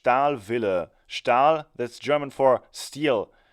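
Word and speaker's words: Stahlwille: old wrench the name of the company is pronounced al Villa style that's German for steel and Villa is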